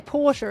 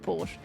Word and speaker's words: Porsche: I should say Porsche as well, not Porsche.